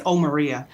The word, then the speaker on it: Omarion: And the way to pronounce my name is Omarion. So O and then Marion.